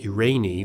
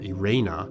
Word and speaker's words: Irene: Yes, that word is pronounced Irene or Irena.